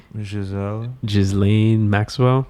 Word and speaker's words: Ghislaine Maxwell: But how do you pronounce the French name of this lady? The Epstein lady? Ghislaine Maxwell.